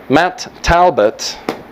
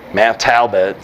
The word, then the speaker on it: Matt Talbot: Irlandés que se llama Matt talb Matt talbert mat talbot si lo pronuncian mal no cuenta eh Ah Matt talbot